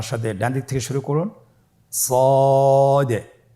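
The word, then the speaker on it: ص: সদ হরফটি পুর হরফ। মোটা হরফ উচ্চারণ ক্ষেত্রে মোটা করে পড়তে হবে এবং উচ্চারণ করার সময় তিন আলিফ টেনে পড়তে হবে। আপনারা আমার সাথে বলুন সদ আবার বলুন সদ।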